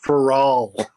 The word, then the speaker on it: Farrell: It's Farrell. Oh, Farrell.